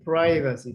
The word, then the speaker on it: privacy: Think, th sound. Invasion of privacy, Felix. Privacy. Privacy. Yes. Privacy. Repeat. You gotta repeat because you'll private, privacy, same root, same family.